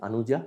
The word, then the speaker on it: Anuja: Anuja, is it the pronunciation is right? Anuja?